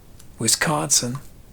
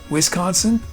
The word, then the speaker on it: Wisconsin: Is the emphasis on the whiz? Or is it on the sin?